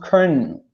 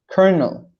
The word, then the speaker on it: colonel: the times is pronounced colonel colonel and the reason is because throughout the time this has been changed in written form but not in the pronunciation because the original from